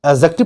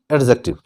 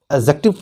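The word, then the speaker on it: adjective: ध्यान रहे, D silent होता है, जहां पे डी के बाद जे आता है वहां पे हमेशा डी साइलेंट हो जाता है, तो इसको हम एडजेक्टिव पढ़ते हैं, ना कि एडजेक्टिव। इसको हम एडजेक्टिव पढ़ेंगे।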